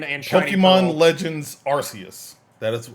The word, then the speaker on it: Arceus: Legends Arceus. That is how you say Arceus.